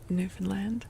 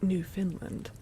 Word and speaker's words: Newfoundland: Newfoundland. Yeah, that's how you say it. Newfoundland, not New Finland. and not Newf Finland.